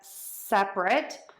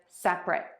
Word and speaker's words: separate: We have a syllable difference today. We have sep-rit, which is the adjective meaning not joined together,